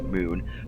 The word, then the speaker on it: Mun: is circling Kerbin is spelled with one U and not two O's, so it's like mun, but it's pronounced moon, the moon, the mun moon thing.